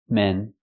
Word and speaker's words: men: man one man and two men use the short s sound like red and 10 men one man and